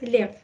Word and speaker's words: Lev: and Leo Tolstoy? Lev Tolstoy. Liev, right? Lev. Yes.